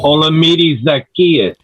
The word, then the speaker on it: Olamide Zaccheaus: Olamide Zaccheaus.